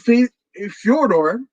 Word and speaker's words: Fyodor: That's what Fyodor, that's the correct pronunciation of his name. But Fyodor, us Americans and North Americans would say Fedor, but Fyodor, that's where